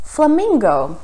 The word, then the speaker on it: flamingo: This is another example of a borrowed word with the same spelling but a different pronunciation. In English, it's pronounced as flamingo.